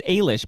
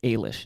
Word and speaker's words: Alish: It's Alish, by the way. Brian tells me it's Alish is how you say that name.